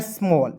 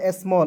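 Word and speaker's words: small: चलिए यहां देखेंगे एस एम A double L एस का आधा श एम का म ए डबल एल। तो इसका उच्चारण औ के रूप में करेंगे। एल का लिखेंगे ल। ए स्मॉल। एस एम A double L स्मॉल।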